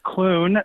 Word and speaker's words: Clune: to correct you on my last name it's Clun no I'm sorry I'm sorry I'm not that